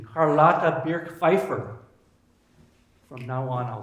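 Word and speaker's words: Charlotte Birch-Pfeiffer: Another was, I'm going to say this with German pronunciation, Carlotta Birk-Pfeiffer.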